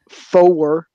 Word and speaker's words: four: 4 is pronounced four, so there is an emphasis. It's really turned into a two-syllable word as opposed to the normal one-syllable word.